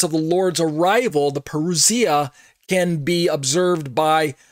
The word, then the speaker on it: parousia: When I say the parousia, some people say parousia or something like that. But I believe the Greek is pronounced parousia.